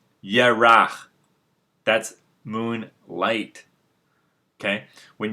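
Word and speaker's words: ירח: the word moon in hebrew they will say ye rah that's moon light okay when you see the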